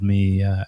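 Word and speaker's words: Mø: Her name is, here in the States, everybody I know calls her Mo, but because her name is spelled M-O with a circle through it. But I've been told by somebody from Denmark that it's pronounced more like M, which isn't very exciting.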